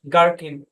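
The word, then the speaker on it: gherkin: আচ্ছা, শব্দের শুরুতে জি এইচ থাকলে এই সাইলেন্ট থাকবে, জি উচ্চারণ হবে গোস্ট, গার্কিন, গ্যাটো।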